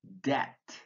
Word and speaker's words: debt: pronounced take for example the consonant B which is silent in these words bomb bomber comb crumb debt doubt dumb lam plumber